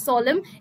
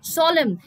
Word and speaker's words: solemn: The pronunciation is solemn. N is silent. Solemn.